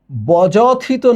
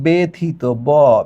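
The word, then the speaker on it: ব্যথিত: রসয়কার জফলা ইকয়ালটু একার এটা বজথিত না হয়ে হচ্ছে বেথিত ব্যাথিত ব্যক্তি ঠিক আছে তাহলে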